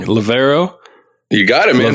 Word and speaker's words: Levaero: And so you're at, I always pronounce it wrong, Levaero. You got it, man. Levaero Aviation.